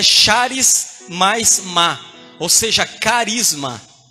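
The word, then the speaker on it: χάρις: Essa palavra graça no original, irmãos, é charis. Charis, que significa, a pronúncia nossa é caris.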